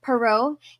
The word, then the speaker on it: Perrault: 1600s um by Charles perau um per yeah perau it's a French name so there's lots more letters than than are pronounced um and so why